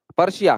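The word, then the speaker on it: Persia: सिलोन मतलब वो सिलोन, इस तरीके से उसका प्रोनाउंसिएशन होगा, राइट, पर्शिया, करेक्ट पर्शिया, ये ध्यान रखना आप, ठीक है।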